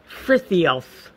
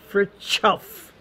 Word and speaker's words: Frithiof: It was spelled so that you would sound Frithiof, but I think it was pronounced Fritjof.